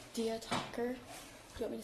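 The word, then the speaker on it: Diya Thakur: Dia talker. Do you want me to spell that?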